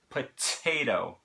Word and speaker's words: potato: potato, right? Then the second T in the word, we flap that here in America.